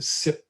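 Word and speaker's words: CYP: And one particular subtype, the SIP, people that are working in this area pronounce that acronym. So it's a SIP 2E1.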